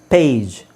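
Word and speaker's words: page: ಮುಂಚೆ ನಾನ ಏನ ಹೇಳಿದೆ ಕೊನೆಯಲ್ಲಿ ಜಿ ಬಂದ್ರೆ ಅದನ್ನ ಗ ಅಂತ ಹೇಳಬೇಕು ಸೋಎಸ್ಟಿಎಜಿ stack ಎಸ್ಟಿಎಜಿಇ ಸ್ಟೇಜ್ ಪಿಎಜಿ ಪ್ಯಾಗ್ ಪಿಎಜಿಇ ಪೇಜ್ ಸೋ ಇದು ಈತರ ಬರೋದಿಲ್ಲ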